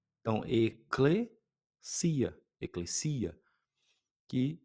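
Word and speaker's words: ἐκκλησία: complicadas, fica fácil porque k, k, l, lambda e eta tem um som de clê. Então, eia, eclesia, que é a palavra igreja.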